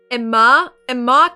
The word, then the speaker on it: Emma: The participant Lee's son and Emma is accented on the second syllable. Emma Kensington Klein.